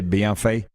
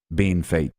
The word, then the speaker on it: Bienfait: Yeah, I think you're supposed to say Bienfait. And we in Sask say Bean Fate.